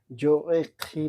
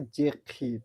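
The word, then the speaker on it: j'écris: তাহলে এখানে উচ্চারণটা কি হবে? জো এ খি না হয়ে যে খি মানে আমি লিখি।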